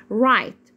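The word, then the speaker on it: right: بنطق زي كلمه ايه رايت رايت الجي والاتش هنا سز يعني حروف صمته ما بنطقها بقول رايت رايت يت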